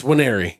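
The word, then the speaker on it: Nwaneri: It's Winery. The first N is silent apparently. But Williams Winery came in and he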